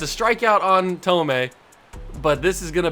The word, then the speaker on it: Thome: It's Jim Thome.